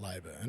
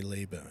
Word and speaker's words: Leyburn: It's absolutely not Leburn. It is definitely Lee Burn.